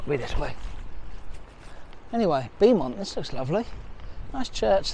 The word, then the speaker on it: Beaumont: There you go, locally pronounced Beaumont, the beautiful hill.